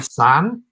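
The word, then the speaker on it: Tsan: But The Way of the Panda Tarot is by Kimberly San, and that's spelled T-S-A-N.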